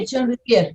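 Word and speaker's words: Pichon-Rivière: ¿Es correcta la pronunciación, doctora? ¿Riviere? Pichón Riviere, sí, sí, okay.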